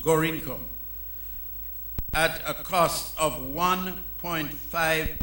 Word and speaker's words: Gorinchem: from Danim, Dashin shipyards, Gorinchem, Gorincom, or whatever it is pronounced, Gorincagm. They say it is pronounced Gorincom, at a cost of $1.5 million CIF.